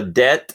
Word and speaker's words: debt: Debt and debit. Yeah, I mean, that is another example of just a silent letter, right?